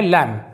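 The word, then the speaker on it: lamb: अगला एग्जांपल देखते हैं ये है लैम लैम का मतलब होता है मेमना यहां पर भी बी साइलेंट है और कुछ एग्जांपल देखते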